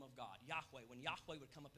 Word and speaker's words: Yahweh: Yahweh is the leading pronunciation for it.